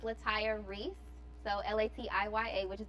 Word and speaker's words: Latiya: They always say Latiya, but it's pronounced Latiya.